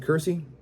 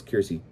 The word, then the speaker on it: Kirsty: to a trucking with Kersey Kirsty your name is Kirsty that's how you pronounce it um she she has